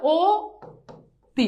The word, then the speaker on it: অতি: হবে তাহলে এই যে দেখো অতি আছে না এই অতির উচ্চারণ হবে ও তি শেষ সিম্পল কথা কি